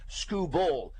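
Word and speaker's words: Skubal: Scooball, by the way, Scooball is pronounced Scooball.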